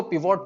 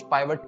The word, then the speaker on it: pivot: कुछ लोग इसको पिवोट टेबल बोलते हैं, कुछ पाइवट टेबल बोलते हैं, दोनों ही सही है प्रोनाउंसिएशन में, जिसका मेन काम है